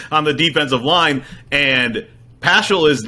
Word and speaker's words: Paschal: We believe, actually, I guess his last name is pronounced Paschal instead of Pascal, which is very confusing for us as we're just trying to read about this.